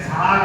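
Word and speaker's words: czar: असे अनेक शब्द आहेत झार हा शब्द इतिहासामध्ये तुम्ही वाचला असेल रशियाचा राजा झाड होता त्या झाडच spelling C झेड ए आर असं आहे या गोष्टींची कल्पना नसते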